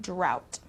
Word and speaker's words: drought: the area okay so this o-u-g-h-t uh sound is complicated for some people it's just um it turns into a t sound drought okay rural rural means of